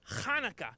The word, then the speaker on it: Hanukkah: They're teaching me a really fun game that's played at Hanukkah. Actually, Telly, it's pronounced Hanukkah, you know, with more of a ha.